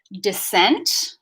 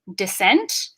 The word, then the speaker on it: dissent: So that is pronounced dissent with stress on the second syllable again, just like descent.